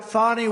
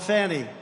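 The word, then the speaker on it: Fani: It's called Fanny. You have to pronounce Fonnie. I don't know how she gets She should add a little U in there someplace if she wants people to call her.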